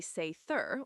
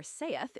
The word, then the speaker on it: seiðr: Satyr, pronounced roughly say-thur or saith in Old Norse, is a bit hard